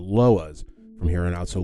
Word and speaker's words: Loa: looked it up and turns out it actually is LOA I've been pronouncing pronouncing it this entire time through my research as iwa I think iwa sounds